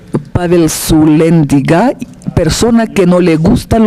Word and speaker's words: Sulyandziga: Mi apellido se pronuncia correctamente en mi idioma natal, se pronuncia Pavel Sulianziga, persona que no le gustan los astutos.